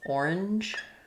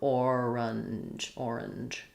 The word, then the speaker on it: orange: And so I would say this sound, the schwa in the middle, orange, is a little bit optional. So you can say it kind of like orange, with the j sound at the end. You can spell that however you want. Or orange, with a little bit of an in here. Orange.